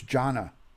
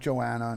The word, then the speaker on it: Jonna: on a previous email you're saying my name wrong Ron its Jonna not Joanna not Johan Jonna she's adorable hi sunshine